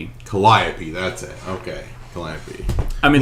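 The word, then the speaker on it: Calliope: So you got you got Kaisar and Collopy. Colliopy.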